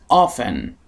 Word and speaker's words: often: Often. Often. توی بریتیش انگلیش خیلی وقتا ممکنه بشنوید often. هیچ عیبی نداره، ولی خب شکل رایجش often هستش. اون تی تلفظ نمیشه.